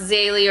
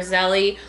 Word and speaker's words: Zélie: are Saint Louis and Saint Zélie, or I've heard it pronounced Zélie or Zélie Martin, and they are from France.